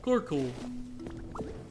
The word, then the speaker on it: Carkol: No, it's literally Carkol. That's his name. That's how they say it in the anime. Carkol.